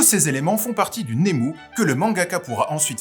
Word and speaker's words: Nemu: Alors, Nemu, qu'il faudra prononcer Nemu pour ne pas passer pour un bouffon, est un terme difficile à définir, mais vous me connaissez, j'aime les défis.